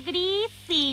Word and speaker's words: Griffin: Se pronuncia Griffin.